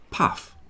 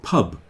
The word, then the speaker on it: pub: So, it's a P at the beginning, which is easy. Then, it goes uh and then it goes B at the end. So, the word is pub.